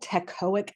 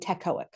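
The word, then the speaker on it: teichoic: There's lipotcoic and tecoic. It's spelled like this. T E I C H O I C. It's either tecoic or lipoteic, but they've got teaic. Okay. And I think of tectonic plates.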